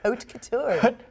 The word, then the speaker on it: haute couture: Haute couture.